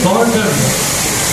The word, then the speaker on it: गौरधन: और महाराज जी का जो सरनेम है, सरनेम वो है गौरधन, GOURDN।